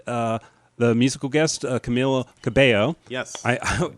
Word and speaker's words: Cabello: Um uh so next we had uh the musical guest Camila Cabo. Yes. I It's spelled like Cabello but because like it's the Hispanic name is pronounced Cabo.